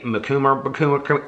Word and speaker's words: Macomber: not a huge Debbie Macomber fan and I know I'm mispronouncing her name somebody said it was like cucumber Debbie mikuma yeah but anyway she